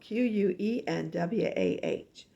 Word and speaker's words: quinoa: And quinoa is spelled Quenwah.